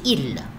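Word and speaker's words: ils: Mais, il, elle, il avec S, mais on ne prononce pas le S, c'est il, et elle avec S. On ne prononce pas le S, alors c'est elle.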